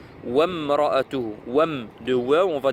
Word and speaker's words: وامرأته: J'ai eu des cas, donc des frères qui lisaient wa imra'atuhu. Non, ici, alif, elle ne se prononce pas, elle n'est pas au début, cette alif là, hamzat wasl. Wamra'atuhu.